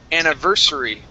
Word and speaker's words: anniversary: Now, this word here is pronounced anniversary. Okay, so stress right here on ver.